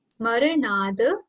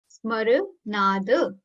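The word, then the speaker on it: स्मरणाद्: Smaranad Smaranad. Very less pressure on the starting S over here.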